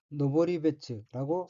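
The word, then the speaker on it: 登別: 둘을 합하여 이불이라고 발음합니다 오른쪽 위에 한자는 한국어로 등별이고 각기 오를 등자와 달을 별자로 되어 있으며 각각 일본으로는 등은 혼독이 노보르이고 별은 음덕이 배치입니다이 둘을 합하여 노보리베츠라고 있습니다 오른쪽 아래 한자는 한국어로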